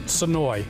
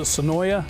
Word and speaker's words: Senoia: any of those uh the natives will call it sonoy our tourists will pronounce it sonoya and some of the residents that live just outside the city limits will call it sonoa so Senoia has really